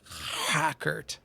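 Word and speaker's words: Hrakert: this is my asmr for for the night hackert there you go uh hidden resources uh talk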